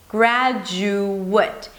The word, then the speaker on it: graduate: The verb ends with ate. So again, it's spelled the same, but the verb turns into the A as in day.